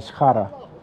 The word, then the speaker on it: Shkhara: You see, that's how you pronounce the mountain, Shkhara. S-H-K-H-A-R. Yeah, they got shashlik, mashed potatoes, yogurt, and it's right over there.